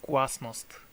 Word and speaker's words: glasnost: It's not pronounced Glasnost, I believe it's pronounced Glasnost, which should come from guas.